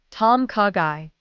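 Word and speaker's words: tom kha gai: The answer is tom kagai in English. Tom kagai in Thai. It's a gently flavored chicken soup with coconut aroma. Ordering phrase, I'd like a Tomkagai, please.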